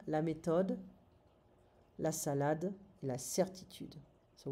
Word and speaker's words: méthode: La méthode, we don't pronounce the TH in French, it's going to be a T sound. La méthode, la salade, la certitude.